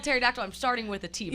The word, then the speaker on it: pterodactyl: spelt pterodactyl no where's the p it's at the beginning yeah it's yeah pt more like pneumonia it's a better one i was like if i had spelled pterodactyl i'm starting with a